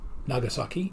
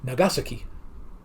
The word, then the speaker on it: Nagasaki: And oddly enough, it's not pronounced Nagasaki in Japanese. It would be Nagasaki. Yeah. Accent on the second. So now anytime I will refer to that, it'll be Hiroshima and Nagasaki.